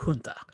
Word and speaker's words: junta: A junta, or junta, as it's sometimes pronounced.